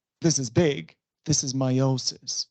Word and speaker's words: meiosis: The proper name was sort of one of the, another name for it is meiosis. Meiosis, mind the pronunciation.